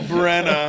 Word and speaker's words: Bregna: the only single brna I think it's called Brena bregna or Brena yeah they pronounce it Brena it's got that Cy